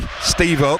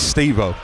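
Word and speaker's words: Estêvão: Yeah, it's Steau, isn't it? Who's uh he's just having a look at Steve out. Steo, sorry. Steo, that's it. It is Paul when they simplify them sort of names. I know Paul Merson got rinsed for it on social media last week. I know he gets a lot wrong, but he did get that one right. It is Steo.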